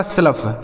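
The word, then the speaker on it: slough: ओ यू जी एच का उच्चारण आपको फ कर देना है। यह लिखा गया आपका स्लफ।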